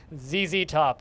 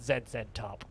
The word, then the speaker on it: ZZ Top: um wild boar and zz top is the name of the band not zed said top come on i i will pronounce the name of the band the way it's supposed to be pronounced um and like they